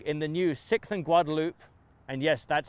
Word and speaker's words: Guadalupe: If all the parking in the new 6th and Guadalupe, and yes, that's how they pronounce it in Austin, skyscraper in downtown Austin